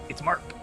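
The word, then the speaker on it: Marc: You call him Merc? Like a mercenary? His name Morty. It's Mark. Mark.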